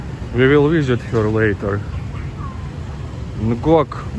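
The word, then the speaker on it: Ngọc: Ngok, but it's pronounced like Nyao, Nyao, something like that.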